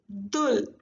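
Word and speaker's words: 둘: 1 Hana, 2 Dul. CVC combination. Last consonant will go down. So Dul is fully one syllable.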